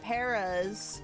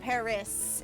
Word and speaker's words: Paras: But why why can't we pronounce it Paras instead of Paris? It's not Paris, it's paras. Like a pair of peaches, a pair of mushrooms.